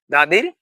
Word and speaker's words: the: দাদির সিবি, দা সমান সি অ্যান্ড দি সমান ভি। তাহলে টিএইচ এর পরবর্তী অর্ডার যদি কনসোনান্ট লেটার দ্বারা শুরু হয় তাহলে আমরা বলবো দা, তাহলে টিএইচ এর উচ্চারণ হবে দা।